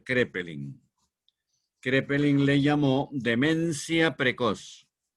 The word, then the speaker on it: Kraepelin: psiquiatras han sido alemanes, Kraepelin con K, que se pronuncia Kraepelin.